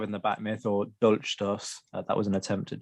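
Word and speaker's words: Dolchstoß: Well, and yes, you pronounced it absolutely fine. That's Dolchstoss Legende, stab in the back myth, is one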